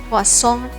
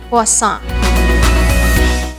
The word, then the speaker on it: croissant: the French accent, so just remember to drop the R and T sound and say it as croissant, or it could pass as croissant.